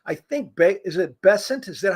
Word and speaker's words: Bessent: It's like, yeah, I mean, they're going to announce, I think, be is it Bessant? Is that how you say his name? Yeah. Bessent said that he's going to come out today and give details.